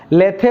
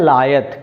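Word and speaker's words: lithe: LITH के लीद या लेथे मत पढ़ना, इसका प्रोनाउंसिएशन है लायत। क्या है?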